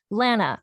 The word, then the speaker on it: Lana: rhymes with ban an however you say banana that is how you say my name so I I have